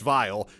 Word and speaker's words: Weil: died of malnutrition vile yes it's pronounced vile sounds like a connection to vialism eyes sides look up vialism and came up with two results both in relation to Simone vile we will call this